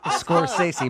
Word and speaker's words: Scorsese: It's Scorsese.